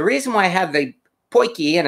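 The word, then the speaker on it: potjie: why i have the poikie and it's pronounced pointy as i find out it looks like it's spelled pudgy but people from south africa have corrected me and it's actually pronounced poikie um and let's get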